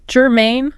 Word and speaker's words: germane: Germane? Germane. Stress on the second syllable there.